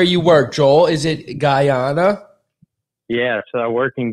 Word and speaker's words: Guyana: Is it Guyana?